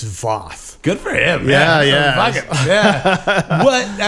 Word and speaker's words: Voth: yeah, and even our name is everyone else pronounces it Voth, and he just out of like a fuck you to everyone's like it's Voth.